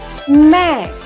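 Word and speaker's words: मैं: are a non-hindu speaker you have to be careful about the pronunciation of this word men so this is and you can't pronounce it as name because you can identify that there is a nasal pronunciation of this word meh right now we are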